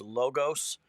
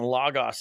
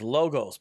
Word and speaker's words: Logos: The proper way the company says their name is Logos. What happens is you end up saying Logos if you've taken intro Greek, because that's how you say Logos in Greek. But the company is Logos.